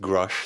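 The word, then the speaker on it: Grusch: I have to apologise because I mispronounced his name in the original whistleblower episode. I called him Grush, didn't I? Yeah. And when I watched that, I realised it's pronounced Grush, so that's my bad there.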